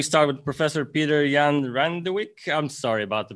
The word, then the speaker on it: Randewijk: we go yes so my name is petrion randowek i'm from dtu and now presenting a uh